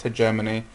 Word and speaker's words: hegemony: The first background concept is hegemony, or hegemony. It's usually pronounced hegemony.